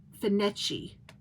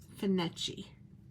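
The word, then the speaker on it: Findochty: Locals pronounce it as Finetchi. Fin as in fish. Finetchi.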